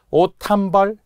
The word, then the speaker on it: 옷 한 벌: 마형 디귿 히읗이 만나서 오 탄벌 원래 시옷이 디귿이 음절의 끝소리 간 후 히읗을 만나 옷한벌 즉 단어는 세 개지만